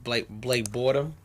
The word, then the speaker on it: Blake Bortles: Oh, I'm sorry, Blake Bortles.